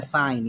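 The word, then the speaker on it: sign: है ऐसे ही देखिए एस आई जी एन होता है तो एन के पहले जी आया ये साइलेंट होता है इसको क्या बोलते हैं साइन क्या बोलते हैं साइन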